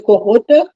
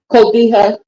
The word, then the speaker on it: cotija: I put the Mexican cheese, the cojota, as my son-in-law pronounces it. How you pronounce it, William? Cotija.